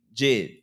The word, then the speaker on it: JID: Nah, it would be like Ben, like like Jay-Z Jid. Yeah. Jid is spelled J-I-D.